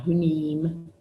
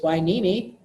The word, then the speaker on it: Hueneme: is the naval base Hueneme not an enemy not who neem not house it it's